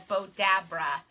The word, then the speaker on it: Bowdabra: like what is they bowdabra and so it's actually GAD spelled like that bowed brah but it's a boat Deborah and it's actually used